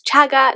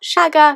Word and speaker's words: Chagga: I said to her, by the way, Miss Wynne, it's Chagga, not Shagga, because she always mispronounced it. But of course, at the assembly she said Shagga, which of course ruined the whole moment of me getting the award.